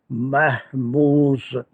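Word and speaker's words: مهموز: verb that is called महमूस। ये तक सबको प्रोनाउंस करना आ गया होगा, इस पे एराब नहीं है, मैं लगा रहा हूँ महमूस, जे पे जज़म, महमूस।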